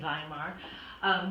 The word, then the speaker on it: Weimar: Weimar are spelled WP on they are they pronounce it by mark but in any case by the time we